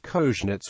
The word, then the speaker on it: Kozienice: Kozienice is pronounced as Kozhnits in Yiddish.